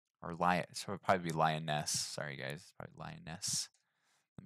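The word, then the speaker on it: Lyonesse: lioness lee looks kind of like i was pronouncing so please forgive me it is lioness and i'll make sure i double check some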